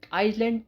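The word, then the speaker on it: Iceland: Next है आइसलैंड। अब तक हम बोलते आइसलैंड लेकिन आइसलैंड नहीं बोलना है। आइसलैंड इसमें एस साइलेंट है। जब एस साइलेंट है तो यह बन गया आइसलैंड।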